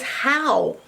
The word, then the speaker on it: how: And ow is a diphthong, like we talked about before in down. Ow, ow, ow, ow. OW was a diphthong, makes the sound ow.